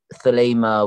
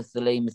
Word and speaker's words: Thelema: It's got a thud at the beginning, like a lemma.